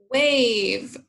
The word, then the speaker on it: wave: know label our syllable now we see that pattern a consonant you know the silent e at the end wave so now we're going to label that the magic e syllable mark our vowels long a mr a they put